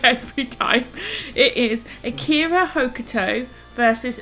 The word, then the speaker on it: Hokuto: and by the way it's a cure hokuto not hoka tube just for the record and i don't mean to be a dick because sometimes i know i can be but it's akira hokuto shinobu i just want